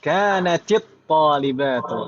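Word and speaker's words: كانتِ الطالبةُ: Naam, kanatit talibatu. Naam, aslinya kanat sukun karena bertemu dengan sukun lagi jadi kasroh, gitu kan, Mbak?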